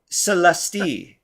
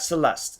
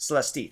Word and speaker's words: Celeste: give up hope people so Celeste not Celeste Celeste three syllables thank you for correcting